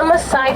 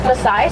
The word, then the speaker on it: Maasai: And tie-dye kind of rhymes with Maasai, so it's an easy way to remember how to tell them apart from different types of giraffe.